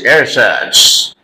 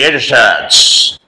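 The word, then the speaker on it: ersatz: a t z s aets the word is airads pronounce correctly aads okay artificial and not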